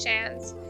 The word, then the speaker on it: Shans: The pronunciation of scenes is the same as Shans. Like chance with SH at the start.